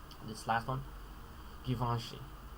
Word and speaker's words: Givenchy: This last one, Givenchy. Man, over here the pronunciation guide says Van. Van doesn't really capture the sound very well. Givenchy.